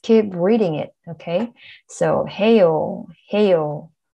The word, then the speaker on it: 해요: 하다, to do, 아요, 하아요. Not really, it is 해요, 해요.